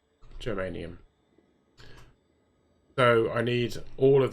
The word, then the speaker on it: germanium: So I need carbon, vanadium, geranium, or well, to be honest with you, I probably need carbon, geranium, arsenic, niobium, yttrium, polonium. I know I'm saying geranium wrong. I'm saying it wrong. Germanium.